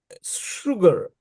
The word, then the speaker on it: sugar: know their pronunciation like sugar. You you write s u g a r but they pronounce sha sugar not sha.